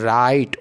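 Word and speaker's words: right: similarly देखो य प आर आई के बाद जी एच टी जी एच टी तो केवल किसका प्रोनंसिएशन लेना है टी ठीक है तो राइट और आई को क्या पढ़ना है आई को क्या पढ़ना है आई राई राइट नाइट फाइट े अपन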